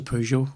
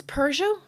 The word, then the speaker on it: Peugeot: I say pew, not poo, like.